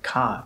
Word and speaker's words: 火: Some fire type moves do use hi, but they use a different reading so it sounds like ka instead of hi.